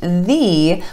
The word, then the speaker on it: the: number 1 th e is only pronounced thee when it comes before a word that starts with a vowel sound in all other instances